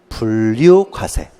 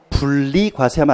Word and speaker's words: 분류과세: 분류과세. 발음 정확히 해야 됩니다. 분리과세하면 안 됩니다.